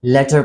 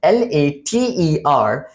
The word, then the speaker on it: later: Sometimes मैंने देखा है कि कुछ लोग इस word को L-A-T-E-R को letter पढ़ रहे होते हैं, and they are actually mispronouncing this word. L-E-T-T-E-R, hut, उसको हम कहते हैं hut, और उसकी प्रोनाउंसिएशन है letter, letter. लेकिन यहां पे जो वर्ड है L-A-T-E-R, it means बाद में. So इसकी प्रोनाउंसिएशन later, later.